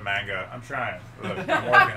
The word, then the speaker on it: manga: I said Magna instead of manga.